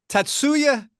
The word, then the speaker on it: Tatsuya: How do How do you pronounce it again? Tatsuya.